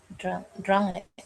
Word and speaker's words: drunk: Huruf vokalnya diganti menjadi apa? U, Miss. Apa bacanya? Drunk.